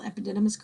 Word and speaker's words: epididymis: to spell it so I learned that the only way I could spell epididymis correctly is to say epididymis so that's how I say it when I have to spell it starts with an E and then everything else is an AI except for this Y in the middle so it did why miss epididymitis in the epididymis